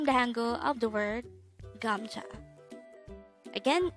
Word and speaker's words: 감자: here at the angle we're going to study gamja let's start learn korean one word at the time or here at the hangout word number 200.